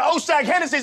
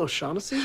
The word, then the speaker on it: O'Shaughnessy: Now take your ass on down to Oshag Hennessy's office right now and tell him exactly what you did! Who? Oshag Hennessy! Principal O'Shaughnessy?